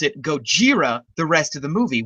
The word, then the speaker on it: Gojira: has a name in America Godzilla but they pronounce it Gojira the rest of the movie whereas in uh